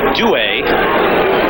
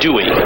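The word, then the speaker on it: Duhe: 18 yd line by AJ duay and that now is the preferred pronunciation no more AJ Dey that's says that's also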